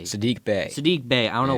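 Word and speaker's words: Saddiq Bey: traded for uh yeah how do you say his name Bae last name Bay Sadiq Bay Sadiq Bay I don't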